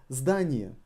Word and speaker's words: здание: Здание. Здание is building. Здание. Здание. With the emphasis on a.